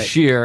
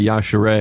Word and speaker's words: Yashere: Yashir, and half the people say Yashere, and I know one is right, and I think I'm getting it right. Yashere.